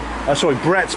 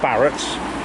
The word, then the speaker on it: Brett's: Please do use Brett's Bakery, not Barrett's.